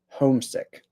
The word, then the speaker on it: homesick: Um, I think that the stress is on the first syllable. Homesick.